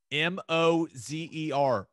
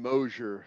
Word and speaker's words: Moser: that's how that's what the press release said m-o-z-e-r mo zer i've been saying mosher i think everyone's been saying moser but it's